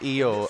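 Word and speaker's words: Iyo: ring name it's because people called her low shirai and now it's spelt more phonetically i y oh it's eo and then of course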